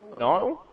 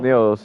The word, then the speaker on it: Niels: TTL, Niall? Is that how you say it? Oh, Niall? Niels, yeah. Niels, yeah.